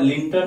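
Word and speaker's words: Lytton: लोग अपनी सुरक्षा के लिए हथियार रखते थे, लेकिन 1878 में लॉर्ड लिंटन या लिटन, दोनों उच्चारण करते हैं, लॉर्ड लिंटन ने यह अधिनियम पारित करवाया, ये लागू करवाया।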